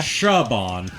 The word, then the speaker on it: Saban: uh Hungary um and his name was spelled Saban like you know the sabon company but it was pronounced Shaban yeah um funny thing